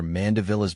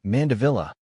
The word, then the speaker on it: Mandevilla: Think about the vile in the middle. That's where the emphasis is. Listen to online pronunciations or watch videos of people saying mandilla to get the sound just right.